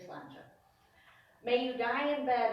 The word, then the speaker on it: sláinte: It's spelled S-L-A-I-N-T-E, and it's pronounced sláinte. It's Gaelic, of course. And a helpful hint is think it's a lawn chair. It's lawn chair, sláinte.